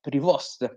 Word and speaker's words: Prevost: Habemus Papam, il nuovo Papa, avete visto sicuramente le notizie, è Prevost, come alla pronuncia diciamo statunitense, come lui stesso ha poi praticato negli anni, dopo nei vari video che si vedono con la sua presenza ancora da cardinale.